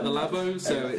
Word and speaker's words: Labo: Yes, the Oh, Lobo. Is it Lobo? Labo, Labo.